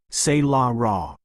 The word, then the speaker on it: Solara: From the deepest shadows emerged Lady Solara Nightsong, pronounced Se-La Ra, her movements so quiet that her arrival was barely noticed until she stood at the chamber's center.